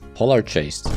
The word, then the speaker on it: Polargeist: Polargeist, and yes, I'm pronouncing it with a soft G, is a different story though.